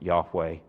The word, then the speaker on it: Yahweh: We often pronounce it Yahweh.